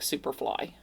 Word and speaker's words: Syperfly: It's s y p e r fly, but I'm assuming it's supposed to be pronounced like superfly.